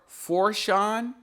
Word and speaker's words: Fourchon: I'm terrible at Louisiana pronunciations. I'm just tell you that right now. It's just Port Fourchon.